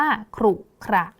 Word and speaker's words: ขรุขระ: คะ ต่อ มา ค่ะ คำ ว่า ขรุขระ ขรุขระ นะ คะ ขรุขระ พยัญชนะ ต้น ก็ คือ ข ไข่ แล้ว ก็ ร เรือ นั่น เอง ค่ะ ต่อ มา ค่ะ คำ